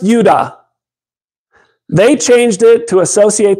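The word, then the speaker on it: יהודה: I know I'm wrong it's not pronounced Yehuda it's pronounced Yuda they changed it to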